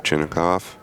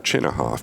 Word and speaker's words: Chinakhov: Mr. Chinoikov or Chinahoff Chinnikov is a fighter, I believe. Rousin Chinoikov is a fighter. Depends if you're using Russian pronunciation or Americans. I hear both ways.